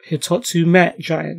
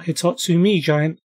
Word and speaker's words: Hitotsu-Me Giant: Yep, Hitotsu-Me Giant, not Hitotsu-Me Giant. Don't worry, I said it wrong my whole life as well.